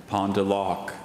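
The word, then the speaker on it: pendeloque: Soham, your word is pondalok.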